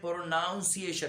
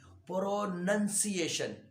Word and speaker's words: pronunciation: बताना भूल गया कि अमूमन लोग कहते हैं प्रोनाउंसिएशन, प्रोनाउंसिएशन गलत है। आप प्रोनाउंसिएशन नहीं बोला करें, सही है, प्रोनंसिएशन, प्रोनंसिएशन, PRONUNCIATION, प्रोनंसिएशन, सही है। ये याद रखे हमेशा। अमूमन मैंने बंदों को देखा है कि वो कहते हैं प्रोनाउंसिएशन, ये प्रोनाउंसिएशन नहीं है, प्रोनंसिएशन।